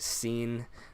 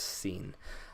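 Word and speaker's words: سين: n but for now I'm gonna write it out like this because then you know it's it's pronounced seen so now we have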